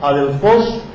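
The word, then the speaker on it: ἀδελφός: De fileo, amar, y adelfos, o adelfos, porque lleva acento en la última O, adelfos, fileo, adelfos, que adelfos es hermano.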